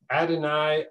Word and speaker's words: Adonai: were reading this out loud i would say adonai adenau that's the first two words there and